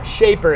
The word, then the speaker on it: Shapr: Yeah, Shaper. It's of course it's like spelled in I'm gonna let you guess how it's spelled.